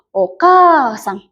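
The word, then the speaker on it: おかあさん: Tuh dibacanya jadi okasang. Bukan okasang tapi o kasang. K panjang ya.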